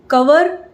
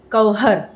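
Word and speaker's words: cover: वेज वेज ना कि वेज, नॉन वेज ना कि नॉन वेज, कवर ना कि कवहर।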